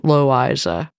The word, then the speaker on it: Loisa: The reason we think it's pronounced that way is because my grandmother's middle name was L-O-I-S-A, according to my father, always pronounced Loiza.